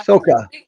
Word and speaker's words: Sokka: How do you pronounce his name? Was Melanie right? Soka? Sokka? Yeah. Soka.